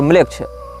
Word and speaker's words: Melech: ANAMMLECH या इसी प्रकार की कोई स्पेलिंग आप टाइप करेंगे, अनाम ANAM और म्लेच्छ। इसमें म्लेच्छ जो है वो हमारा वाला म्लेच्छ नहीं है, मेलेच्छ, मेलेच्छ शब्द जैसा है, MELECH इस प्रकार से।